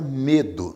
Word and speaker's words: medo: A palavra medo, no entanto, é uma palavra paroxítona, porque a sílaba tônica é a penúltima.